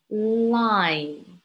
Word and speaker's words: line: mouth open but the sound is actually coming from your nose because if you open or close your mouth it's pretty much the same thing no difference but if you pinch your nose and you block the airflow from coming from your nose then that would sound very different i can't pronounce it anymore it's coming from the nose air flow comes from